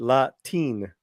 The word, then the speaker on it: Latiné: I pronounce it Latine.